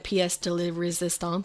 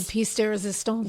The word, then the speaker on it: pièce de résistance: Pièce de la résistance. The pièce de résistance.